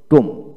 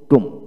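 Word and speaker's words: tomb: লক্ষ্য করেন, আবার বলবো, ওয়ার্ড এর মধ্যে বি এবং এম বি একসাথে থাকলে এবং বি এর পরে কোনো ভাওয়াল না থাকলে বি এর উচ্চারণ বিশেষ করে হয় না।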